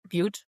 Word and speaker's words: Butte: California, in a particular county in California called Butte County. Did I get that right? Butte, the right pronunciation?